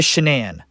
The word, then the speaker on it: Shan'ann: what because not only did she change the pronunciation from shannon to shenan she also changed the